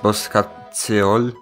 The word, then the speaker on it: Bosca Ceoil: It's pronounced Bosca Ceoil.